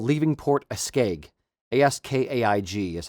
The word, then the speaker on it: Askaig: Askaig is how you say Askaig or spell Askaig.